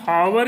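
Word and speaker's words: hour: planning for ए एन अब यह लिखा तो हमें आवर इसका उच्चारण करना चाहिए लेकिन इस चारण स्टार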